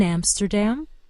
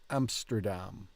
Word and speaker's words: Amsterdam: Still want to make it a long A like we do in English.